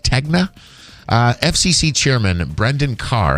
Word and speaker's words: Tegna: Is it Tegna? Is that how that's pronounced? Tegna.